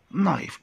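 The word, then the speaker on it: knife: نايف الكي سايلنت لا تنطق.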